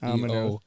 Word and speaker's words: Ominos: The E is silent. and the Ominos. E-O. Ominos.